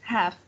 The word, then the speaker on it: half: yes yes okay a half past eight good very good half past eight thank you very good yes for the half we don't pronounce the l for all the participants